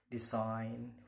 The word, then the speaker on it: design: Okay, the next, usually the silent letter G is followed by the letter N. For example, design, foreign, pain, generally, resign, and sign.